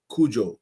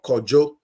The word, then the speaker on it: Kojo: In the Ewe tribe, it's pronounced Kujo or Kojo. The Ashantis or the Khan will say Kwejo.